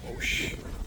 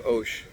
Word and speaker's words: Hoche: We're in front of 9 Avenue Hoche. I've been, don't pronounce the H.